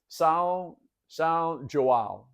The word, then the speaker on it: São João: John, which I have pronounced incorrectly every time. São João.